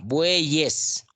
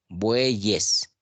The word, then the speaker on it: bueyes: Yo no digo buey es. O alguien pronuncia buey es. Yo no pronuncio buey es. Yo pronuncio bueyes.